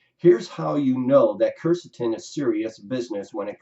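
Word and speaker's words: quercetin: is actually spelled qu e R CET is Kirsten that's always pronounced topic number two whether it's in your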